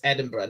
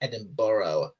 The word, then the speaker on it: Edinburgh: if you mean the if you mean the city in the city in Scotland then it's Edinburgh not Edinboro yeah see we're we're